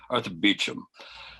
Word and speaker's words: Beauchamp: of the amazing Arthur Beauchamp. No, you will. Unfortunately, Arthur Beecham is. Now, by the way, that's the pronunciation he prefers, the Old English, Saxon way.